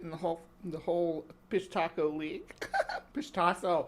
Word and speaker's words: Pishtaco: Pishtaco. I gotta start saying it right. I still want to call it. I don't call them fish tacos anymore.